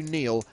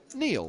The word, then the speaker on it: Niall: And get to the fact that Niall is the Gaelic spelling of the name Neil, and is traditionally pronounced Neil.